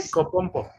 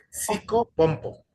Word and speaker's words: psicopompo: Psicopompo. Psicopompo. Psicopompo, perfecto.